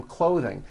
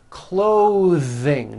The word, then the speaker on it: clothing: Clothing. Notice how my tongue comes out in the middle of the word and the TH sound is pushed out.